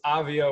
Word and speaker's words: Avia: It is Avia with the soft A.